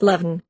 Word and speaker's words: Leamhan: Leven comes from the Gaelic Leamhan, signifying an elm tree, but the old form is Leaman, and the N becomes aspirated in a latter stage of the language and forms Leamhan, pronounced Leven.